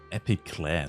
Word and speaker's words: Epiclese: Epiclese, so spricht man das als heftig aus.